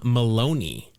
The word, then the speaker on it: Maloney: the Cincinnati Reds Reds Jim Maloney rhymes with baloney sounds sounds like he